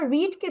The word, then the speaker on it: read: এরপরে যদি আমরা রিডকে দেখি, রিড হচ্ছে কি আমাদের প্রেজেন্ট ফর্ম। রিডের পাস্ট ফর্ম হচ্ছে গিয়ে রেড, বাট আমাদের বানানটা একই, উচ্চারণ ভিন্ন, ঠিক আছে?